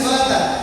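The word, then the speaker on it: الصلوة: Bacanya salat. Tapi di hurufnya itu ada W. Hurufnya itu ada wau.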